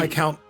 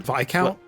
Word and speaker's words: viscount: V count. Is it Vic Count? I've been calling it Viscount. Sounds like discount.